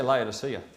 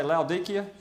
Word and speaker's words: Laodicea: Now we say Laodicea, but I remember our tour guide when we got there, I was trying to understand what he was saying. He was Laodicea. So perhaps the locals say Laodicea, we say Laodicea, it's the same place.